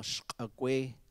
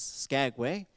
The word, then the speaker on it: Skagway: My personal experiences, I was born in a place we call Shkagwe, which sometimes gets mispronounced as Skagway, but we could fix that.